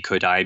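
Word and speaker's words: Kodály: And if people aren't familiar with Kodai and would like to learn more, then it's spelled quite unusually. It's Kodaly.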